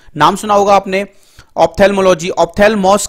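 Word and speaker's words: ὀφθαλμός: जो अगला वर्ड है वो है ऑप्थेल्मोस, जी हाँ दोस्तों ऑप्थेल्मोस, जो ग्रीक वर्ड है जिसका मतलब होता है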